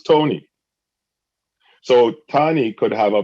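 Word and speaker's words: Toni: tony belafonte right but her name is spelt t-o-n-i people who have that name t-o-n-i call themselves tony so tony could have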